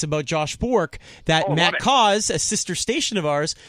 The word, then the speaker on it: Cauz: I called myself Glauz instead of Cauz once.